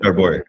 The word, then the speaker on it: Jarboui: Please welcome Jarboui, right? Is that how you Yeah, pronounce it? Jarboui.